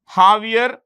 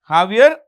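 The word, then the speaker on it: Javier: of the president jaier the J is pronounced with an H jaier mil jaier mil so that's about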